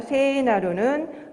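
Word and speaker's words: 聖なる: 그러니까 세나루는 성스럽게 되다. 즉 거룩한이라는 뜻입니다. 여러분 제가 발음에 대해서 말씀을 드렸지만 에 발음과 이 발음이 함께 오면은 에 장모음인 걸로처럼 발음한다고 했습니다. 그래서 원래는 세이지만 세라고 길게 발음해 주시면 됩니다.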